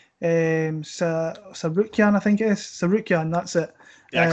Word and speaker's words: Tsarukyan: Tsarukyan, that's it. Yeah, I call him Arman. Arman, yeah. I don't pronounce the T, so Tsarukyan, I think that's how you pronounce it.